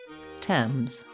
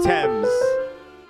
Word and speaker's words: Thames: Pronounce Thames. There's the River Thames.